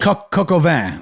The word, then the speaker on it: coq au vin: Oh, I'm mispronouncing it. I'm not French. Coq au vin.